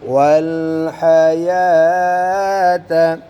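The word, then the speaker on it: وَالْحَيَاةَ: वल हयात। वल हयात। अब देखो बच्चों, हया में यहाँ पर खड़ी ज़बर है तो वाव खाली है, तो वाव साइलेंट है।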